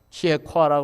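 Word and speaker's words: Kierkegaard: 일찍이 저 덴마크의 실존주의 철학자, 예수 잘 믿는 것 때문에 결혼도 포기하고 믿음으로만 살다 간 사람, 키에코아라고 그러죠, 원어상 발음으로.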